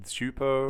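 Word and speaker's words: Csupo: them, the episodes that were made by Klasky Cuspo. I don't know how to pronounce the name, but... Klasky Schupo.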